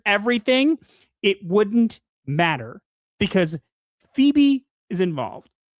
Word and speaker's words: Phoebe: done by Sophie uh Phobe Waller Bridge, who is the woman from It's pronounced Phoebe.